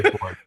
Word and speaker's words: Fórn: and gentlemen of the Heavy Metal History Podcast, I'm welcoming two members of Fórn. Is that how it's pronounced too? Yeah. We just say Ford.